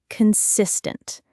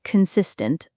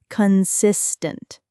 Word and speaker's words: consistent: The stress in consistent falls on the second syllable. Consistent.